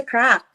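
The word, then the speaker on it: craic: you they would say hey teen what's the crap so it's spelled as c-r-a-i-c but um it's like saying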